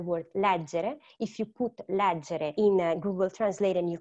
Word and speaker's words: leggere: If you put leggere in Google Translate and you click to hear the pronunciation, they will say leggere. So you will know that it's not leggere, but it's leggere.